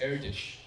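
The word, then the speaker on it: Erdős: iOS news radio so the name is crts is pronounced air dish because he's Hungarian there's various books on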